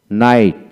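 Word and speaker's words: knight: হাঁটু গেড়ে বসা তারপরে নেল নেল ঘন্টা ধ্বনি নাইট নাইট এন এ আই টি নাইট তারপর হচ্ছে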